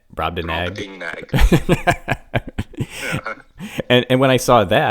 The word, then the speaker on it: Brobdingnag: Brobdingnag. Brobdingnag.